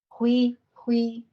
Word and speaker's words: 辉: And how do you say Hui? Hui, yeah, Hui.